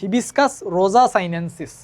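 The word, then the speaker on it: Hibiscus rosa-sinensis: তারপরে জবাকে আমরা উচ্চারণ করতে পারি হিবিস্কাস রোজা সাইনেন্সিস, তাই না?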